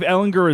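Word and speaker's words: Ehlinger: So if Ellinger is bad, you don't put Ryan back in. If Ellinger gets hurt, you don't put him back. It's with a hard G, right?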